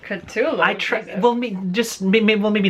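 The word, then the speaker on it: Cthulhu: mystery type you know Twin Peaks meets Tulu it's culu I well just well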